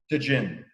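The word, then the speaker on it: Tajín: If you like a spicy rim, Tahin, is that correct? Is that the way you pronounce it? Yeah. Tajin.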